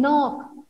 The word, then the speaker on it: knock: Okay, K will be silent here. Means we don't say this. We say the rest of the letters. No, then knock.